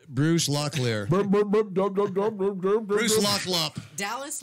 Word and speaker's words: Dallas: Dallas, like Texas.